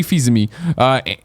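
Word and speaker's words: Fils-Aimé: are far from pessimism now you pronounce it fees now I screwed up overtime fees ma I panic fees that's why usually just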